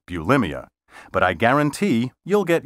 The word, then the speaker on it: bulimia: you know the eating disorder many people call bulimia well guess what the proper pronunciation is bulimia this medical term entered the language in the